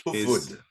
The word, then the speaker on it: Hufvud: brought me into contact with you the name huffud where's that come from it's pronounced food yeah in Swedish that means head your your